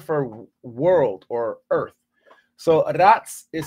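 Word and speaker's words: ארץ: You'll see it in English, Hebrew, pronounced as eretz, eretz. Well, that's the word for world or earth. So aratz, it says Genesis chapter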